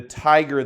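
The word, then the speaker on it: Thaiger: recent article in the tiger that's Tiger the tiger calm and tiger is spelled th AIG er the title of the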